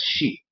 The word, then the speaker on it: Xi: you pronounce it as She. Because the Olmec didn't call themselves Olmec, the Olmec called themselves the She, which is spelled Xi but pronounced She.